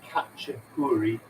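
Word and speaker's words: khachapuri: make yourself it's called kachopuri which is spelt k h a c h but it's definitely kh to start with katja kuri it's from georgia and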